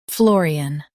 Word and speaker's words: Florian: Stress the floor part and keep "un" light. Floor, FLORIAN.